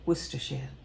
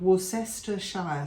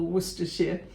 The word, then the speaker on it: Worcestershire: sauce in great britain just shortens the whole thing to worcester sauce and if we were giving it its full name we'd say worcestershire sometimes the imperiums it's known as as well i have heard it called warcester shire sauce in america but just go with worcester or worcestershire as simple as that and then one of